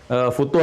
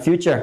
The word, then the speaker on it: futur: sudah pernah kita bahas, bukan future tapi futur, gitu kan? Nah, jadi itu nggak usah di Inggris-Inggrisin, futur, gitu ya. Jadi nggak usah bacanya future, ya futur ya.